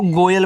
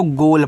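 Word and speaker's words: goal: जी ओ ए एल इसको गोयल मत पढ़िएगा। इसको गोल पढ़िएगा। ये आपका गोल है।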